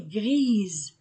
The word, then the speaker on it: grise: gris la clé est grise grise j'ajoute E et S entre de voyelles Z la clé est grise le mouchoir est blanc